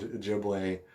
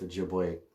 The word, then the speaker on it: Ojibwe: then when i learned ojibwe i learned that the o is always long like in ojibwe you don't call it ojibwe o's are long o's and uh so my